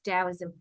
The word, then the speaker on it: Daoism: just so people know GAO the t is pronounced yes Daoism okay so tell us about why taoism is